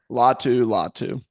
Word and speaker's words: Latu: Turner from Alabama and loua from uh UCLA latu latu you're right latu latu I can't pronounce some of these guys from UCLA clearly